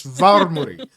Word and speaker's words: Varmuri: Look, I know I'm dead, but you could at least pronounce my name correctly. It's Varmuri. Var with an R.